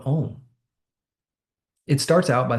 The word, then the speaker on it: Om: But not just OM, the phonetic sound or syllables of Om, A, A, U, U, and M.